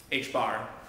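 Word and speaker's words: ħ: x and delta p hbar that's pronounced h bar which is h over 2 pi but notice even though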